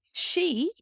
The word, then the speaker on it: sí: Sí, the i fada has an ee sound, long e, sí, tá, sí is